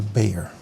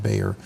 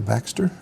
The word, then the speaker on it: Bexar: different H all right so that is the Bayer I believe that's what they pronounced Bayer some people call it the Baer but it is pronounced Bayer as I understand